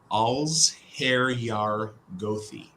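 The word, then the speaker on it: allsherjargoði: right um Ali asks how do you properly pronounce ulteriorgothi I've heard as many versions as there are letters in the word can we get the final word on this please absolutely all's hair yar gothi and it it works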